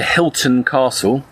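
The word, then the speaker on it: Hylton Castle: And this is going to take us all the way over up to Sunderland, to Hilton Castle, HY, not like the hotels.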